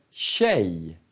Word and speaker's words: tjej: Så när vi bara har K, K E K I, sh, det är samma ljud som till exempel tjej eller tjock. Det är samma ljud. Vi skriver T-J. T-J. Tjej. T-J. Tjock.